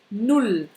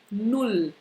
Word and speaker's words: null: C'est un OU bien court.